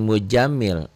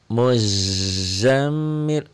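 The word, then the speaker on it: مزمل: bismillahirrahmanirahim ya alammil Zai ya J Jim jangan mujamil muzamil Zai ya ya ayyuhal muzzammilmila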